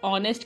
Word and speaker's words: honest: और आर, ऑनेस्ट के साथ हम एन लगाते हैं क्योंकि उसमें ओ की साउंड आती है, जो एक वॉवल की साउंड आ रही होती है।